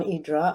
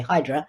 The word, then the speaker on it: Hydra: Hydra, first of all, when you live there, it's called Hydra, which is the pronunciation that differentiates us from the tourists, because the tourists always say Hydra.